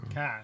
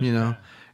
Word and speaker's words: chi: But anyway, as Carl said, the letter X is actually pronounced CHI or KYE, and it rhymes with I, so it's Chi. Kai. It's just Kai.